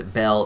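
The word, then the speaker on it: Baal: root of their name ball has also been pronounced as Bell throughout history and bagore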